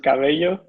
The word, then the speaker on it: Cabello: my name is says my surname is pronounced Galileo and I work at gana integrity in Copenhagen